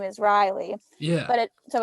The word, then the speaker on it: Reilly: can spell it v-a-r-e-i-t-y like my name is riley yeah but it so it's spelled rei lloyd everyone calls me like